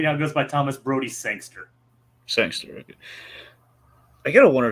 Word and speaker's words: Sangster: Well, technically, he now goes by Thomas Brody Sangster.